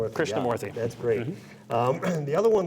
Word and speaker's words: Krishnamoorthi: And I know you're better at pronouncing his last name. Krishnamoorthi. Krishnamoorthi.